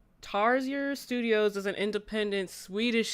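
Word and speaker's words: Tarsier: Um, Tarzier Studios, I think I'm pronouncing it right.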